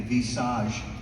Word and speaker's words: Visage: Gubler was able to incorporate, I'm going to talk about the Vitalite and the Visage, that's how it's pronounced, by the way, in French.